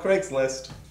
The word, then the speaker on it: Craigslist: you listed this on Craigslist well where did I list this I'm Craigslist yeah except it's pronounced Craig's List okay oh I didn't